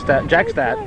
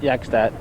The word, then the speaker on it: Jackstadt: So I'll bring up Jackstadt, not Yakstadt. Yakstad's in Plattsburgh, Jackstad's are in Saranac. Same spelling, different pronunciations.